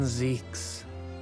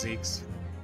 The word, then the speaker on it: Zieks: foggy ocean Lord van Zeeks Mr vigil Kazuma and Gregson what's pronounced Zeke's I've been saying it wrong this entire game series all right that's